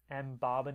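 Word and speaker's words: Mbabane: depends on you know some people pronounce it different uh differently um if you were to look at the seati pronunciation of uh of of the capital city uh it is M bab M Babin is the seati way of of saying uh the capital and the government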